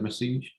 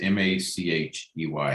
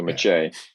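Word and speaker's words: Machey: see uh so we had message was that messige yeah i actually did a youtube pronunciation guide for his name yeah um so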